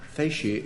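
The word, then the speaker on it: facie: Frank primer fi primer how much fasi it is but it's spelled f a c i e what's Rel I I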